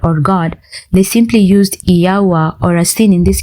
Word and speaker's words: Yahuah: Yahuah is the more accurate pronunciation of the Hebrew 4 vowels used to identify the name of the Creator. Ancient Hebrew shows no record of a W sound.